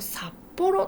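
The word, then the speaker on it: 札幌: 札幌、これ漢字札幌と読みます。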